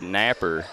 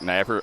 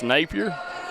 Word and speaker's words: Napier: but uh coach Brad Napper I didn't know you could pronounce Napier like Napper amberie Off the Mark